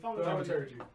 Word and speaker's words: Thaumaturgy: Thaumaturgy.